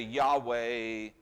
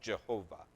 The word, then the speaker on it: Yahweh: So when I say Yahweh, that's just the way I'm pronouncing what he pronounces as Jehovah, or Yahovah, I guess is what that would be.